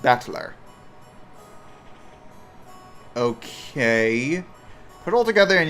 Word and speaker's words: Battler: Japanese pronunciation soar okay the problem is my given name whatever is made up of the characters for fight and person it's pronounced battler okay put all together